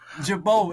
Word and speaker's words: Girbaud: yeah how you say Jabo is the French way to say it prounce jao is the